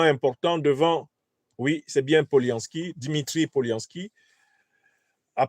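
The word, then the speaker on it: Polyansky: un discours extrêmement important devant, oui, c'est bien Poliansky, Dimitri Poliansky, a prononcé un discours très important donc devant le Conseil de sécurité des Nations Unies.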